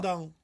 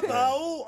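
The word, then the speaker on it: Brandão: Alors, apprenez-moi au moins pour Brandao, je dois dire comment en brésilien alors Brandao. Brandao. Ah, c'est génial quand tu fais l'accent brésilien. Brandao. Mais non, pas Brao, hein.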